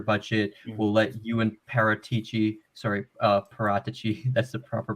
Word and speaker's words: Paratici: We'll let you and Paratici, that's the proper pronunciation.